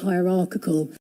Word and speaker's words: hierarchical: Hierarchical. Hierarchical. It's pronounced just like hierarchy, but at the end we changed. Instead of saying hierarchy, we say hierarchical.